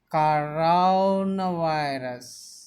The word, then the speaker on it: coronavirus: The pronunciation of the word is coronavirus. Ka arau na virus. Coronavirus. The stress should be given on ra and va.